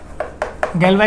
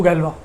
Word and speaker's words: Galois: a Galois extension, and the pronunciation I am using Galois word that comes directly as we pronounce for the name of that mathematician. If suppose you are a mathematician and whatever people call you, that should be your pronunciation. So this is the pronunciation people used to call to Galois. You should not use Galois word.